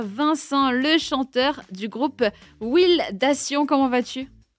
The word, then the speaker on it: Wildation: À l'anglaise plutôt, c'est mieux. C'est Wildation.